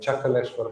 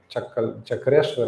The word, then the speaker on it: Chakaleshwar: In Govardhan, Gopeshwar Mahadev, Lord Shiva is present at Chakaleshwar Mahadev. When Krishna lifted Govardhan, then Lord Shiva was on the top as Chakra, present as Chakra. Chakreshwar actually, Chakaleshwar, pronunciation changed.